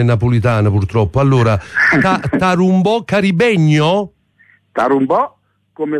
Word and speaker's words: Tarumbò: delle sue canzoni Senti Andrea correggi la mia pronuncia CH saccio parl solo italiano e Napolitana purtroppo Allora tarumbò Carib gno carum Bò come la musica di